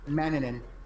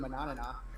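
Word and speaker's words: Manannán: gonna take me to say something other than Maninin is how it's actually pronounced.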